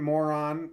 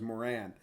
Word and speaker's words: Moran: jumped here go on it was Brian more on versed Colin more on it's brutal some more an okay okay okay the real name the real pronunciation is Moran two brothers faced each